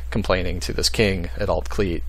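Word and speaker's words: Alt Clut: And it's pronounced Altcleat because the U in Welsh is pronounced like an E sound.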